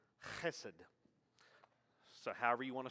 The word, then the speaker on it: hesed: will see c-h because technically in hebrew it's hesed so however you want